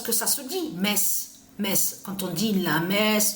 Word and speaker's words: Metz: ça parce que on sait que quand on prononce parce que ça se dit mince Metz quand on dit la messe tout ça Metz